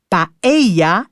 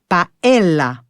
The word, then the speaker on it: paella: Et oui, si on veut prononcer à l'espagnol, on dit paeya et non paella.